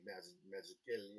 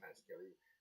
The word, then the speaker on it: Mazzucchelli: Done one with Lorenzo Matodi, Dave Mazzucchelli, I believe is how it's pronounced, who I think is one of the greatest cartoonists that ever lived, Dave Mazzucchelli.